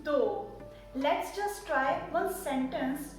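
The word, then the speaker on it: दो: toe is very similar the pronunciation of tu-tu-tu-tu-tu means dough let's just try one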